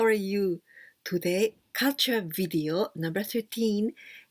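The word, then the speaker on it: 妖: Do you know this word? Yokai? Yokai is Japanese folk monster or Japanese folk demon. These kanjis, yo, the first one, yo, we can also pronounce ayakashi or mononoke, and this means mystic.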